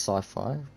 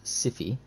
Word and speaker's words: Siffy: Siffy, see, that's not pronounced sci-fi, it's pronounced Siffy McAction Man Game, because there's an action man called Siffy, and he is Siffy McAction Man.